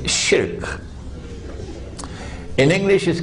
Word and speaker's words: shirk: recognize that as shirk please change your pronunciation it's shirk in english is called